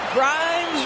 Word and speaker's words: Grimes: Grimes rhymes with dimes.